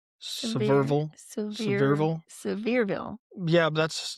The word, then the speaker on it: Sevierville: Yeah, it's overall, by the time you add Gatlinburg, Pigeon Forge, Sevierville, I probably said that wrong. Sevierville.